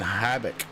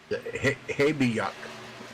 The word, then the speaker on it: Habiuk: He's followed by Blake Decker and Ian Habbick. Habiuk. Habiuk. Habiuk. Yep, that's how you say it.